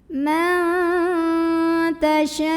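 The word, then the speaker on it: مَن تَشَاءُ: Kemudian di sini ada ikhfa aqrab. Karena ada nun sukun bertemu dengan huruf ta sama seperti yang di atas ya. Bacanya nunnya samar-samar mau bilang ta sambil disertai dengung. Jadi masih besar samarnya ya karena ta makhrajnya masih dekat dengan nun.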